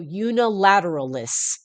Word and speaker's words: unilateralis: And I see una, like universe, and then I see lateral, so unilateralis.